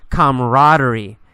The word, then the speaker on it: camaraderie: the word camaraderie camaraderie you really don't pronounce that second a we usually say camaraderie camaraderie camaraderie is a